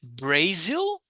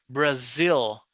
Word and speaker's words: Brazil: So, A has like five different sounds. So, here is Bra Brazil and I doesn't have E sound like it's not Brazil. No. Brazil. I Brazil.